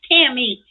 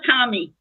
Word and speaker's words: Tammy: are horrible it's time it's Tammy it's not Tommy oh Tammy Tammy just